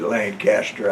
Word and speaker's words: Lanchester: We pronounce it Lancaster, I think they pronounce it Lanchester.